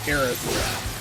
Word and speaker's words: Aerith: Because the Japanese version was the correct way to say it, Aerith.